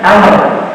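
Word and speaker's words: عمرو: Arab di zaman itu diberilah tambahan wau sehingga kalau ada wau bacanya am kalau enggak ada wunya bacanya Umar karena sama-sama Hnya makanya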